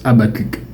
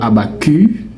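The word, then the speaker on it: Habacuc: Laissez-moi vous dire, cher ami, ce mot-là, il se prononce abacuk. Abacuk. Oui, le c de ce mot, il est prononcé. Hm hm. On le prononce. Donc ce n'est pas abcu. Non, c'est bien abacuk.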